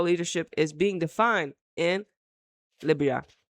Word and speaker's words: Liberia: The development is widely regarded as a landmark movement for gender inclusion, representation, coaching diversity in Liberia's football.